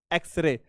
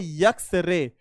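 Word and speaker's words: X-ray: एक्सरे। एक्सरे। अच्छा, जो बच्चे यहां पे इसका उच्चारण यक्स निकालेंगे, क्या निकालेंगे? अगर वो निकालेंगे यक्स रे, क्या निकालेंगे?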